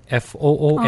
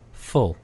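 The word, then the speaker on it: full: 그래서 이걸 fool이라고 우 발음을 해버리면 바보라는 F-O-O-L이 아... 되는 거예요. 네, 그래서 F-U-L-L 가득 찼다라고 할 때는 으 발음입니다. fool.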